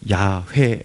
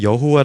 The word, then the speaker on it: 야훼: 스스로 좀 존재하시는 분 이 이름의 히브리 식 표현이 바로 야훼 라는 이름인 것입니다 오늘 성경에 보면 여호와 라고 표현되어 있는데 사실은 어야 외가 더 이렇게 원어에 가까운 발음으로 알려지고 있습니다 나는 야외 다 야외